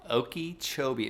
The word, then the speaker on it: Okeechobee: Okeechobee.